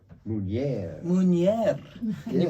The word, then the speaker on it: Meunier: It's called Meunier. Meunier. Meunier. Can you Yes.